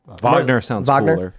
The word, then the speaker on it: Wagner: of the is it Wagner group or is it Wagner group Wagner I think that's that's actually appropriate pronunciation they called for an